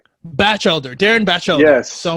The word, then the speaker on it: Batchelder: It's Batchelder. Yeah? Batchelder, Darin Batchelder.